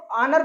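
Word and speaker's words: honour: उच्चारण नहीं किया जाएगा इसको इतना ही पढ़ेंगे क्या पढ़ा जाएगा इसको ओनर पढ़ा जाएगा और ओनर का मतलब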